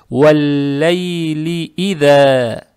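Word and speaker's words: وَاللَّيْلِ إِذَا: Касру ни в коем случае не надо тянуть, лам читается мягко. Как только касру произнесли, сразу сюда переходим. То есть, валлай-ли ида. Валлайли ида. Вот так.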